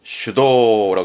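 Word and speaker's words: 主導: 그래서 발음은 슈도라고 그래서 뭔가를 주도하다. 슈도. 주도하는 건 슈도.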